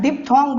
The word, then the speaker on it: diphthong: Eight जो है इसको बोलते हैं डिप्थोंग बोलते हैं।